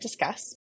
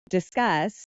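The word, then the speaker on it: Disqus: And after many, many interviews, I ended up at Discuss. Okay. Everyone thinks it's Discus because of how it's spelled. Good. But it's I Discuss.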